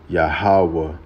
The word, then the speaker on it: Yahawah: Yahawah.